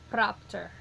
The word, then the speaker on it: propter: they give us is propter so but after having a two syllables so the accent going on the first of the two flipping it over we